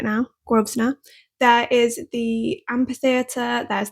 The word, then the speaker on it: Grosvenor: I'm saying it right now, Grosvenor.